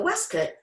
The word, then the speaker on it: waistcoat: which were looser fitting the westcott spelled like waistcoat was where gentlemen could